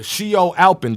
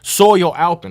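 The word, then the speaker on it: Siol Alpin: tennis mcalpin all right the shio Alpin the soyo Alpin I should say all right I don't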